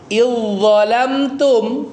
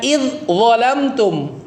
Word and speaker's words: Idzalamtum: Nah, ingat ketika ada dua huruf yang bertemu huruf pertamanya kosong, huruf keduanya ada tasdidnya, maka huruf pertamanya melebur sempurna ke huruf kedua. Idzalamtum ya. Idzalamtum. Enggak usah lagi bunyi dalalnya, jangan idolamtum ya.